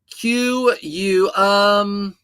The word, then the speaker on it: Kuiu: D uh qu um quu, that's how you spell it. K U IU. QUU is how you actually pronounce the word QU.